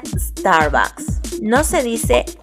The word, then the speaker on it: Starbucks: No se pronuncia Starbucks, se pronuncia Starbucks.